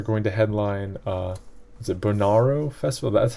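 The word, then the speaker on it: Bonnaroo: Cole, Tool, and Stevie Nicks are going to headline, is it Bonarro Festival? That's how you pronounce it?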